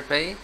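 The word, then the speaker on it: پ: Pay is pronounced with the double lips to touch together. Pay. Yeah. Pay. Pay. Pay. Okay. It is sounding like p.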